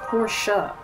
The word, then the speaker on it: Porsche: I just realized that Porsche is not pronounced Porsche it's porsa well I like Porsche